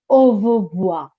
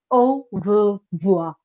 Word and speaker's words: au revoir: Now, this is au revoir. Now, this pronunciation is a little bit tricky, so pay attention, okay? Eyes here and listening ears on with me, all right? Au revoir, au revoir, au, au, au revoir, okay?